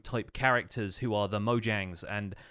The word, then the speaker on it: Mojang: for a while but apparently the company name is mojang so it's it's distinct from that and kind of maybe the Americanized pronunciation of it but I believe internationally it is supposed to be Mojang so yeah I don't